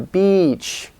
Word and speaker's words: beach: if you seem to the beach okay it's important because if you don't make it long enough it might be misunderstood as a bad word where that's bad and kind of sexist now some vowels are